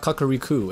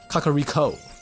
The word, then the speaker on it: Kakariko: entrance of kakuriku Village kakariko it's an O not a u so it's not kakuriku it's kakariko right forgive me if I'm